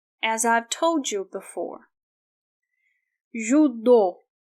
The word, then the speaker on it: judô: Judô, judô. This part is stressed. That's why we do not pronounce O as the vowel U, because it's stressed.